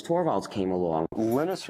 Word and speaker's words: Linus: And that's when Linus Torvalds came along. Linus or Linus? What's your preferred pronunciation? When I speak Swedish, it's Linus. When I speak Finnish, it's Linus. When I speak English, it's Linus.